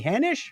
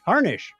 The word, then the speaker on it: Harnish: week include April 14th Danny Hanish or heinish Harnish I got it harness the r and the n look like an M almost that's one of the ways that people speak from Microsoft rhymes with varnish I think 16th is